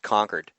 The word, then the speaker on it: Concord: the way it's pronounced conquered as in as in we've conquered your nation I always say ConEd